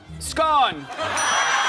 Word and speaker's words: scone: rhymes with bone. Scone.